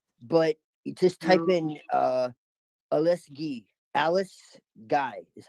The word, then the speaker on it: Alice Guy: Her name is spelled G-U-Y. Alice Guy, but it's spelled Alice Guy, but it's pronounced Alice Guy. Alice Guy because it's French.